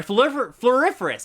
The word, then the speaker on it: Floriferous: Sorry, Floriferous. I learned how to pronounce that today.